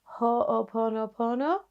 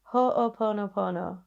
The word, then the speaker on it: Ho'oponopono: I would highly recommend looking into something called Ho'oponopono. I think that's how you say it. Ho'oponopono.